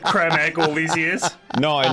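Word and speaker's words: Creme Egg: replied that someone that cream egg is actually pronounced cram egg no and i can't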